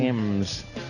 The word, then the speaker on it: Thames: Thames. Yeah. Then how about we get rid of the H if it's Thames? Thames. The Thames. No, it's Thames.